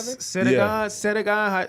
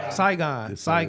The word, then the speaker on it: Saigon: Sedagon, how you say his name? Saigon. I said Sedagon.